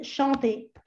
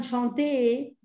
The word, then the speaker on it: chantez: Acá no me digan chanté, porque si no, lo vamos a confundir con esto.